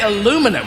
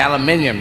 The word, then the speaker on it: aluminium: say caterpillar and uh now you say aluminum we say aluminium you say centrifugal we